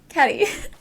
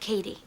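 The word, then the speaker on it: Cady: She's literally carried like royalty, while Katie Caddy? It's pronounced like Katie.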